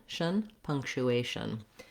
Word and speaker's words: punctuation: it's a reduced sound what you're trying to do is move very quickly from the sh to the n punctuation um but if it helps you to think of it as shun or shin you can do that you just want a reduced vowel there once you can say